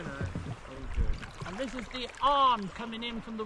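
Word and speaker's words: Avon: on today no no and this is the arm coming in from the right just beyond PA so it's spelled Haven but it's actually pronounced AR so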